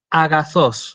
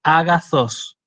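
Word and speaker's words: ἀγαθός: tengo esta palabra si esta palabra se lee a gastos es decir ahí yo no hago una aspiración si no digo a gastos digo a gastos eso es lo que marca el espíritu suave cuando la palabra empieza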